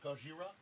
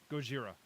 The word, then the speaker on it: Gojira: japan and and fought gajira could that have possibly happened and it's pronounced gojira go jira leviosa oh my